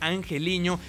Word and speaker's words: Angeliño: Club es angeliño que me misión que se pronuncia angeliño este lateral por izquierda que también lo vamos